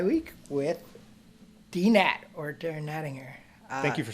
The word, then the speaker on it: Nattinger: with dnat or Darren nettinger thank you for saying my last name correctly yeah okay great I thank you everybody says it with a soft G but it's a hard G so oh I've probably